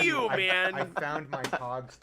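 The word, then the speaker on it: Pagh: I think it's like Pog. Like P-A-G-H. Yes, P-A-G-H. The correct pronunciation would be Pog. Yeah. Pog. But nobody in TNG, especially Michael Dorn, pronounces Klingon correctly.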